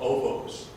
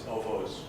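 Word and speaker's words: ovoo: places, hills and whatnot, cairns, which are called ovos. Every word in Mongolia is spelled in English seems to be spelled a half a dozen different ways. But ovo is spelled O-B-O, O-V-O-O, O-V-O. It's all the same thing.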